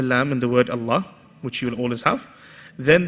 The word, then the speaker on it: Allah: start after we're saying Allah then we say bismillahi the same word but two different ways of pronouncing right one we're making heavy and one we're making light now we need to